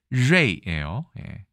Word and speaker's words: 瑞: 중에 3국에서는 글자체가 다를까요 중국 대륙에서는 우리는 서인데 발음이 레이예요 알 발음은 혀를 말아서는 일명 권설음이라고 하죠 그래서 발음하기가 상당히 어렵습니다 그 다음에 타이완에서도 발음을